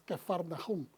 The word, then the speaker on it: Capernaum: que faraón esa escapernaum normalmente lo conocemos pero el verdadero pronunciación es que farnajún ya estaba oscuro yeshua